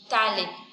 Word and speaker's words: phthalate: Phthalate. P-H-T-H-A-L-A-T-E, because P is silent there.